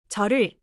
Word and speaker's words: 저를: Quick pronunciation note. 저를 often sounds like 저를. But in fast speech, some Koreans reduce 를 lightly. For learning, say the full particle 를 clearly. 저를, not just if I need the object particle.